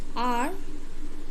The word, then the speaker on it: hour: Because the word HOUR, are, no? So this word are starts with a consonant, but it has a vowel sound, no?